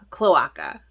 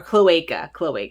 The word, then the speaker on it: cloaca: So I designed a rooster, and the rooster is saying, cluck off cloaca, or cloaca it's pronounced.